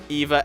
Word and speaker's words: Eva: By the way, I'm gonna start pronouncing Eva as Eva because that's her Japanese name. So I guess that's how you're supposed to pronounce it.